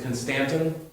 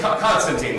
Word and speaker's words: Constantine: invited to parties um the linguistically correct way to pronounce his name is Constantin so just drop that in your next social GA watch just pronounce Constantin and then sniff in really deep and hold your head up high and then watch your social life fall apart Constantin but Constantine we call him that okay Constantine in